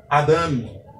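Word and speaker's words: אדם: O segundo vocábulo, observe que eu não coloquei a setinha, subentende que a sílaba tônica é a última sílaba desta palavra. Então, a pronúncia aqui seria Adam.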